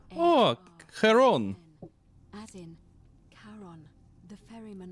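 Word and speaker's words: Charon: It's just as you described it, only your pronunciation is a little off. The name you heard wasn't Karen. It was C H. Oh, Karon.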